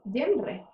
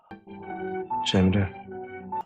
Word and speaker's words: Cemre: quiero que sepáis que su nombre original es Genre. Cemre.